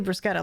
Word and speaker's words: bruschetta: Yeah, it's literally bruschetta. Like, you could just look this up. Like, you have a mobile device. It's pronounced like a K. If it's CHE or CHI, it's like key, which is very funny.